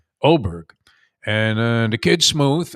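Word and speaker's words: Åberg: Levig Oberg is how you pronounce it. Not Aberg. Oberg.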